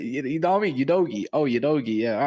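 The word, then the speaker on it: Udogie: It's Udogi, bro.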